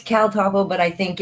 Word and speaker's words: CalTopo: It's CalTopo, but I think it's for the more sharing with search groups.